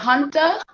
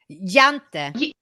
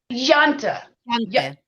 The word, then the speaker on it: Jante: You know, the Junta. Is that how you say it? Law of Junta. Jante. Jante. Yeah.